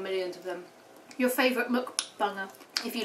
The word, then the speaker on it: mukbang: You're going to call it a mukbang. And how do you say that word? Mukbang, mukbang. Mukbang. It's spelled M-U-K, isn't it? So it's mukbang.